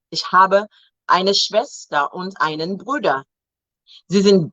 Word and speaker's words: Schwester: Remember, W is V. Ich habe eine Schwester und einen Bruder. Sie sind beide verheiratet, verheiratet und haben auch Kinder. Meine Schwester und Nichte leben in Köln.